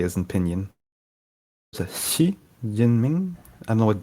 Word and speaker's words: Xi Jinping: So the X I think is sh. So I don't know what the J is in Pinyin. Xi Jinping.